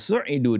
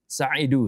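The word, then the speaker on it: سُعِدُوا: Barangkali dalam perbedaan ini ya, dalam perbedaan ungkapan kenapa kok bacanya su'idu bukan sa'idu seperti itu.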